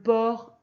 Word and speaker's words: porc: Et comme la porcherie, on entend ch, et que le ch, ça s'écrit CH, donc il y a un C muet à la fin de porc.